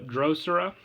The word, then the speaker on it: Drosera: plant counters and one pred plant squid Dr drosera that's how you pronounce it uh you can send this card